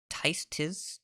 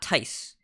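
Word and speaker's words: Tizs: Tiz, T-I-Z-S, not Tice. Tiz, I don't know how to say it.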